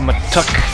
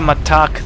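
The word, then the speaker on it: Mattock: Vindicator and the matuk the matuk not the matak the matuk that's how it's pronounced as I have been told and you are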